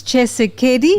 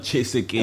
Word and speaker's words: Tshisekedi: Felix Tshisekedi? Not Tshisekedi. What is it? Tshisekedi. Yeah, it's the same thing. Tshisekedi. No, you're still saying it right. It's the accent, you understand.